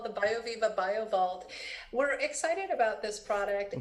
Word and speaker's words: BioVault: And did I pronounce that correctly? Yeah, it's called the BioViva BioVault.